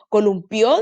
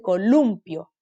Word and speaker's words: columpio: ¿Columpió dice o dice columpio? ¿Dice él se columpió o dice columpio? Columpio, ¿cierto? Si dijera columpió, tendría que tener un tilde.